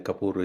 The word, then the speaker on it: Kapoor: Yeah, it's uh Sanjie Kapoor. S A N J E V Sanjie and then Kapour is K A P O O R Sanjie Kapoor recipes.